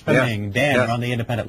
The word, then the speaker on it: Ishpeming: Is it Ishpeming? Is that how you pronounce it? Yes, sir. Ishpeming.